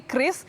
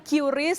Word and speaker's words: QRIS: Krisna sebenarnya apa sih Kris Bagaimana bacanya jadi Bacanya adalah Kris ya Saudara bukan curis atau QR Bukan tapi Kris ini merupakan